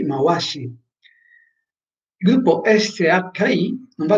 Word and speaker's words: Mawashi: Se trovo come in Mawashigeri la doppia V, non va letta V, come se stessi leggendo viva, ma va letta W all'inglese, come in what, quindi Mawashi.